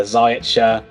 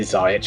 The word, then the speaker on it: Ziyech: Ziyech I don't know how you pronounce it. I say Ziyech. I've heard other people say Ziyech or Ziyech. Ziyech. That's fine.